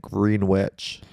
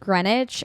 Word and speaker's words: Greenwich: I don't all the towns in Kakad are cuz there's a town called Greenwich, but you would read it green witch. When I was a girl learning about how it's pronounced Greenwich, I said, "No, it's not.